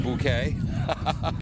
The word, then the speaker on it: Bouquet: is a Chelsea bu is it bouquet or buet your choice sanley Cup playoffs are going on we'll go with the French pronunciation bouquet why send your complaint